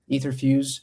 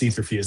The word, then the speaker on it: Etherfuse: First, there's no right way to to pronounce Etherfuse. That's how I say it, but when I go to Mexico, everyone says etherfuse.